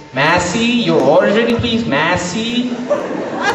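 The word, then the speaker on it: Masi: right here to say my name is Massi okay it's not it's spelled as m a s i so it's not Massie it's Massi okay so I place my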